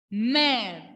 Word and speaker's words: mère: So, when laxo grave will come along with letter E, pronunciation will be A. A. Exemple en français. Mère.